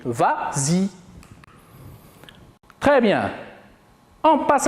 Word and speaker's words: vas-y: ça la vraie conjugaison mais comme il est suivi d'un pronom on ajoute le laisse pour faciliter la prononciation et on dit vas-y très bien on passe